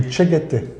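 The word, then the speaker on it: Tschäggättä: Les Tcheguete. D'accord. Mais voilà. Ça s'écrit avec pas des du A, tout comme ça se prononce. Avec des A, tréma, etc.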